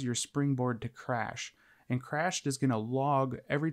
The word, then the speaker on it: CR4SHED: this list is called Crashed. Now, it's spelt a little different. It's like CR4SHED. So it's not with an A. It has a 4 instead of an A, so keep that in mind.